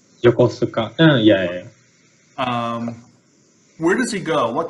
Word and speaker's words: Yokosuka: I don't think I'm pronouncing that right. Yokosuka.